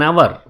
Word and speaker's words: hour: An hour, H is silent, therefore it takes an hour.